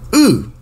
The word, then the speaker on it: Â: How do you pronounce A and I circumflex? Ooh.